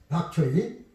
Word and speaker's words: 박초이: 이것은 이제 지금 여기 나온 것은 이것은 박초이, 광동어로 백채라는 것을 박초이라고 읽는 것입니다.